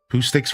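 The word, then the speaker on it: Poohsticks: Poo sticks rhymes with glue sticks.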